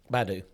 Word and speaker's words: Baidu: Tesla also reportedly scored a deal with, I've never known how to pronounce that. Is that Baidu? Baidu, yeah. Baidu, yeah.